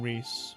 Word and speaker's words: Ries: serving you oh fy her name is spelled r-i-e-s that's why i'm saying rhys and with that